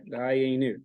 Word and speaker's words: Dayenu: Dayenu, 3 syllables.